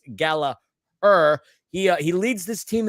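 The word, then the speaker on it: Gallagher: every season that there is John Gallaher not pronounced gallager it's Gala he uh he leads this team in assists with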